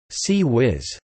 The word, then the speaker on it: CIWS: The Phalanx CIWS, pronounced C-Wiz, is a close-in weapon system for defense against aircraft and anti-ship missiles.